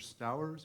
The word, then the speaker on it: Stowers: you mr smith uh mr stowers am i pronouncing that correct perfect yeah thank you welcome um good afternoon commissioners and chair my name is stowers and i am here